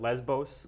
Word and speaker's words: Lesbos: So that red arrow that you're seeing on the screen now points to the island of Lesbos, or English speakers pronounce it Lesbos a lot of the time.